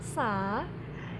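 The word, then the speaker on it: س: Kalau sa itu membacanya tadi saya katakan senyum, sa, si, su.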